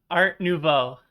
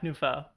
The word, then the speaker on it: art nouveau: one more time no tell me how it's pronounced art nouveau nouveau yeah nufo i'll let you get i'll let you get away with this one okay new nouveau nouveau